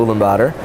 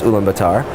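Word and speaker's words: Ulaanbaatar: west of the capital uma bladder commonly mispronounced his Ummah bittar and it's a beautiful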